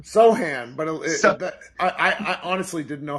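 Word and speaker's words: Sochan: How do you pronounce it? Sochin or Sohan? Sohan, but I honestly didn't know how to pronounce it until tonight.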